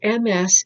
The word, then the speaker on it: Ms.: Hill, so MS is pronounced Ms.